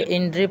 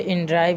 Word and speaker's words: inDrive: तो देखिए इन ड्राइव ही है, इन ड्रिव बोल रहा है।